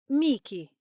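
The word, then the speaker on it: Michele: Perhaps because I'm biased because it is Mik. A nickname you can use is Miki.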